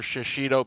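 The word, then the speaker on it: shishito: you guys go out to Sushi ask for shashido Peppers it's like Shido peppers like that's how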